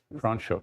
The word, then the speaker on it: Franschhoek: wine when we were in, I never can pronounce this right, Franschhoek? Franschhoek, yeah.